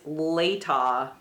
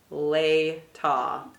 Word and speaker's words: Latah: question I had was how do you say l-a-t-a-h a so it is later lay ta there you go I'm